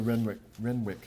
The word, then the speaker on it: Renwick: Reading for her will be Alexandra Renwick. Excuse me. I'm cursed with a silent W in the middle of my last name, so that's why some of you may know me as Camille Alexa.